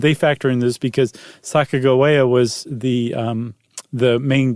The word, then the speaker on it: Sacagawea: And not once do they spell that third syllable G with a J sound with a J. It's always a G. And they think that it was a hard G. So that it's Saka Goa, not Saka Jawia.